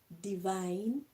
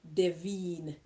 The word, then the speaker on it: Divine: They say that Chanel uh vania de green. No, d e v i e n is divine.